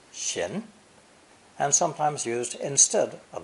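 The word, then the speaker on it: 閑: our final character is a tree inside the double door element pronounced shin and sometimes used instead of the same sound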